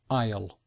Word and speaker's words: aisle: If you notice the the the difficult pronunciation, it begin you don't hear the letter S and it's not really you don't really hear the letter A either. So we say isle.